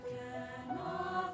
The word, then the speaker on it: cannot: life is a broken winged bird that cannot fly. Do you say, how do you say this word? C-A-N-N-O-T. Cannot? Cannot fly, right? So emphasis on the first syllable.